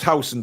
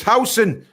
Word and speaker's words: Huijsen: And it is pronounced Huijsen, by the way. I've been educated. I think it's Huijsen. It's Huijsen.